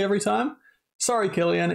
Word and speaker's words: Cillian: And Cillian Murphy, obviously, was absolutely incredible, though I still can't get over the fact that his name is pronounced Cillian and not Cillian.